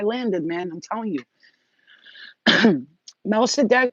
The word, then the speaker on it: Melchizedek: Melchizedek, pronounced Melchizedek, whose name means king of righteousness, is the first high priest mentioned in the Bible.